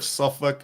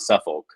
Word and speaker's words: Suffolk: at the mercy of suffk University yeah suff University suff suff it's it's suff yeah if you were in the Northfolk area Hampton Roads area they would let you know it's not Suffolk suff it's like when you